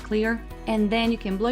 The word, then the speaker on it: Xlear: You can use saline, Xlear, which is spelled with an X, but I think they call it clear.